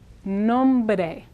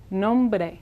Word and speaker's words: nombre: Now again, we have the consonant and an R combination. So this word is pronounced nombre, nombre, nombre, nombre.